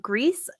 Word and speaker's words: Gris: okay and then uh Greece there's so much debate about how to say this game it's Gris I'm not gonna have the